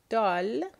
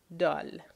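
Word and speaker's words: دال: We're going to start with the letter Dal.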